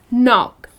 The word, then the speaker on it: knock: But when you pronounce it, then it’s just knock. The K is silent.